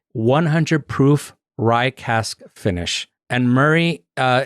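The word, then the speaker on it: Moray: Proof ryas finish and Murray uh it's spelled m o r a y you you kind of want to say morray but everything that I've seen they always call it Glenn Murray so that's what I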